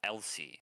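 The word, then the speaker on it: Ehlsea: practice this this thing they call LC and LC uh which is spelled E H L S E A um is effectively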